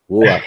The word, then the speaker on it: Ruach: to go to the Old Testament, okay, where Ruach, you just start me the pronunciation. If I do it wrong, let me You know. do it perfectly. Ruach.